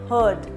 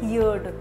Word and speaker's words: heard: enhance not enhance heard I have seen many students pronouncing this word as as heared second form is heard hear heard heard not heared okay it's not num